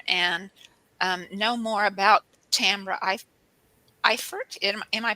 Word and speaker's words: Eifert: know more about Tambra Eifert. Am I pronouncing it right, Tambra? Yes. Tambra The E Eifert. is silent.